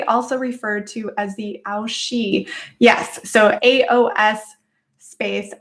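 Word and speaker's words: aos sí: referred to as the aoshi yes so aos space s i and then i've heard multiple variations but i've also heard you can pronounce that as the she as well or the aoshi um this whole celtic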